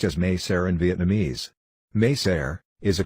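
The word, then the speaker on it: Mỹ Sơn: site meser though spelled as my son it's pronounced as meser in Vietnamese meser is a cluster of abandoned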